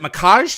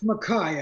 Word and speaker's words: Makaj: thank you is it makage did I pronounce that right it's Makai actually Makai excuse me doesn't look like Makai with that J there on the end but that's how we've pronounced it since uh since I